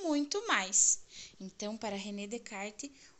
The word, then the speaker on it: René Descartes: desse filósofo nós escrevermos reescrevemos René Descartes porém pronuncia-se Renê de kart Ok então vamos lá o relógio é um